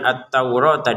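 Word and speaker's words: التَّوْرَاةَ: Kemudian attaurata di sini rnya kita panjangkan dua harakat.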